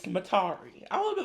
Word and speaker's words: Metairie: didn't she also say it's not Metairie, it's Matari?